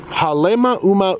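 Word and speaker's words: Halemaʻumaʻu: Oh, Haleemaumau.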